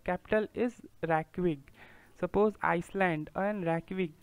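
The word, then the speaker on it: Reykjavík: रैकविग, ये J capital, जे silent है, सो रैकविग capital हुआ आइसलैंड का.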